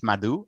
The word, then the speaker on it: Madhu: into this i want to make sure i'm pronouncing your name correctly how did i do um uh first name you got right madhu uh last name is i was